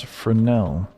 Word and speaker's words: Fresnel: Uh, it's the Fresnel. It's the vault LMG spelled Fresno with an S but pronounced Frenel because English dumb.